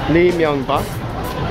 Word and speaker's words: Lee Myung-bak: His name is pronounced Lee Myung-bak, and the prime minister is Chung Woo-chan.